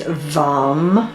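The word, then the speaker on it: वं: One syllable Sanskrit mantra is vam with the v.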